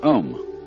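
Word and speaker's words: AUM: mantras is of course the sound ohm that sound is used because if you spell it out a U M it runs from the back of your throat to your lips and therefore it contains the whole range of the voice and for that reason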